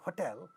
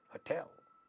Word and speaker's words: hotel: how it is spoken so we say hotel hotel because the second syllable is stressed this word it's a